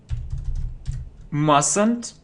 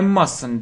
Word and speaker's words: mustn't: now okay negative form mustn't plus verb I mustn't do it I mustn't do it not Martin not mustn´t we don't pronounce - no not mustn´t mustn't mustn't I mustn't do it we mustn't